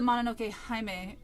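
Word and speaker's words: Mononoke Hime: And she goes, "Oh, it's the Manoke Himeme soundtrack." Yes. And then I hear this dork behind me. He's like, "Oh my god, that's the first time I ever heard anybody say it right."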